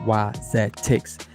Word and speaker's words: Wizetics: The first part of the appendix the first appendix it says the foundation of wisdex pronunciation and definition zedics pronounced y z tics.